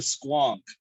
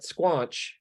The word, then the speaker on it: squonk: already heard what sorry it's called the squonk not squanch would you spell it